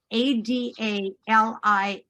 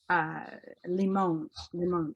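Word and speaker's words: Ada Limón: Adalimon. And I want to say, you might pronounce it Limon, Ada Limon.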